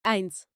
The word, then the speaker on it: eins: veamos los números uno por uno uno se pronuncia eins es el número uno y se usa en